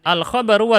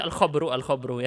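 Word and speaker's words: الخبر: Pembahasan-pembahasannya adalah, mari kita lihat ya, al-khabaru wal insya yang sekarang kita pelajari. Jangan dibaca al-khabru ya. Jangan. Al-khabar wal insya.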